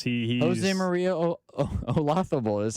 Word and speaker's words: Olazabal: Maria Olazabal.